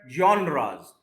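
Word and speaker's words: genres: इसको वाई के साथ बोलते हैं, जॉनराज। ये कोई फ्रेंच वर्ड है तो इंग्लिश की तरह से नहीं इसको पढ़ सकते।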